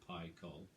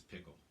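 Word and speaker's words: Pikul: ep in 05 called pi cull it's p i k u l but it's actually pronounced pi call and i guess it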